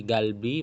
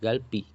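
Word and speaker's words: 갈비: Jadi galbi masih tetap galbi bukan galpi.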